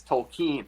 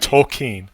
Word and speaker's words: Tolkien: Guillermo asks, "How do you pronounce the name of the person we're talking about?" My name is Tolkien, not Tolkien. Okay, I mean, Tolkien.